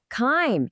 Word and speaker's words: chyme: Is it A, chives, B, chime, or C, chyme? Remember what it rhymes with. The correct answer is C, chyme.